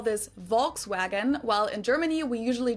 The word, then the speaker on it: Volkswagen: it would be pronounced Volkswagen and not Volkswagen so just imagine that it was spelled with an f and V instead folks vagen this literally means people's